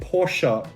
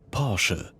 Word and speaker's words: Porsche: letter a even exist so get porsha out of your head parsha you see how they said that they did not say a porsche they said sure almost poor she parsha that is the correct german way of pronouncing it it is porsche perfect i don't want